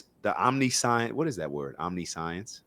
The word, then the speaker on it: omniscience: All right, so it's pronounced omniscience, but it's one word, OMNI, and then science.